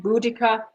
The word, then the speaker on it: Boudicca: number six is and there's interpretation to point out for pronunciation here Boadicea Boudicca whichever you are give yourself a point you got either